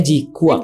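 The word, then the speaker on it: GQuuuuuuX: Nah, itu G-Cooks. G-Cooks. Ya, sorry. G-Quack. G-Quack. G-Cook. Bacanya G-Quack.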